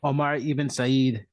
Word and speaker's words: Omar ibn Said: history of Charleston, and I'm not going to pronounce this name right, Omar ibn Said. How'd I do, Elliot? Omar ibn Said.